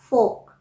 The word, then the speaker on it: folk: अगर आप फोक कहेंगे तो उसकी स्पेलिंग क्या हो जाएगी? FOLK, फोक।